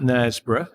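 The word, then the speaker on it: Knaresborough: if you want to check out nesboro it's spelt with a k by the way k n a r e s b o r o u g h online um that's where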